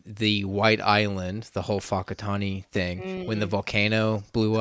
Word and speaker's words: Whakatane: A lot of their towns obviously have names, but it's pronounced like Whakatane.